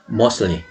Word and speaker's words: mostly: mostly. 역시 자음이니까 가운데 자음이 발음이 안 됩니다. 그래서 mostly가 아니라 mostly. 대부분은 누구예요?